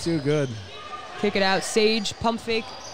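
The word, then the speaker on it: Sayegh: Sage, pump fake. See, it rolls off the tongue once you know how to say it. Yeah. Well, there's like 30 different letters in there that shouldn't be there.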